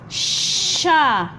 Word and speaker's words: ش: Sha. In English, they don't have sha, but they write sh together to pronounce sha, like she, right?